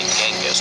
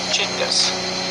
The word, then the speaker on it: Chinggis: While most Westerners say Genghis with a hard G, that's incorrect. In Mongolia, the G is soft, so it's actually pronounced like this, Chinggis.